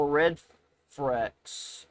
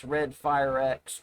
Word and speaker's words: RedFireX: Let's see how Red Frex is doing. 4 hours. I mispronounced his username. It's RedFireX Trevor.